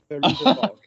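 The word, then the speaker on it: Fairuza Balk: I think the girl who plays Dorothy, who is Feruza Balk. Thank you. I was struggling how to pronounce that. Yeah. Not Veruca Salt, Feruza Balk.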